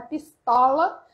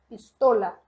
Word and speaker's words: pistola: atenção na pronúncia tá não é pistola esse o aberto que se o não existe no espanhol pistola certo entendido essa esse